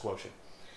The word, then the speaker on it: QTNT: Now, when I came up with this idea, and that equals the quotient, which I call QTNT, I trademarked that, QTNT, but it's pronounced quotient.